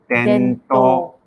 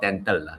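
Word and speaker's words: 伝統: So tradition in Japanese is pronounced as tento, not dental. Yeah, not bento. Not bento, not tento. It's tento. So traditionally means tento teki.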